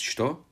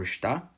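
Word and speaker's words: što: This language had three main dialects, each named for the way they pronounced the word what: Shtokavian, with its shto, or shta, Čekavian with its cha, or ca, and Kajkavian with its kai, or k.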